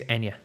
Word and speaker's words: Enya: But yeah, it is I think it is and also the Irish singer is Enya, not Anya.